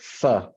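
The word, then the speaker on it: phở: about the Vietnamese food fur you spell it p-h-o but you pronounce it fur and it's just the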